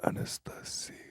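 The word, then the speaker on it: Анастасия: Anastasia. That's how you say it in Russian.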